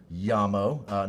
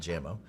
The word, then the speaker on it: Jamo: If you click Yamo, and in case you were wondering, it is pronounced Yamo, not Jamo.